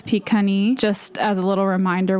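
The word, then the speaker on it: Pikani: One that I did notice while I was editing specifically is Pagan. That is a little bit closer to how it should be pronounced. The other is Picani.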